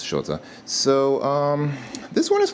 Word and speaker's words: счёты: pronounced that quite correctly the pronunciation is a little bit tricky because there's an S and then right after that there's a sh sound so it's not some people just say sh or something like that but it's